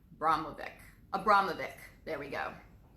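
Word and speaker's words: Abramović: her name a bravura or something but broblem Bromell mobic braun mobic Abramovich's there we go it's my vaccine injury multiple syllables a little bit hard for me so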